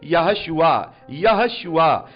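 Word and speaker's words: יהושע: प्रभु यीशु मसीह का जो नाम है, जिसे हम हिब्रू भाषा में जब सही तरीके से प्रोनाउंसिएशन करेंगे, तो वो है यहोशुआ। जैसे हमारी मिनिस्ट्री का नाम तो यीशुआ है, लेकिन असल में उसे प्रोनाउंसिएशन करेंगे तो यहोशुआ।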